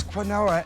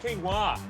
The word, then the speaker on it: quinoa: And what is quinoa anyway? Hey, it's pronounced quinoa.